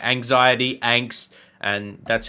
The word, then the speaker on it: Angst: Angst capitalized in German and with the German ah basically just means fear and angst in English is also